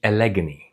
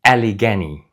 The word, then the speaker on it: Allegany: This is not the alleg. It's the Aligani.